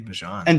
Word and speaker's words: Bijan: Well, he still wants it to be Bijan. And Denny pronounced it Tyler Algier.